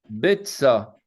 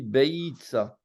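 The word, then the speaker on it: ביצה: Betsa. Betsa. Betsa. Et tu as bien prononcé, tu n'as pas dit Beitsa. Non, Betsa. Donc, le yod est muet.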